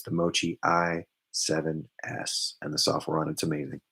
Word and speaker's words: Moqi: i want to say it right it's the mochi i7s and the software on it's amazing check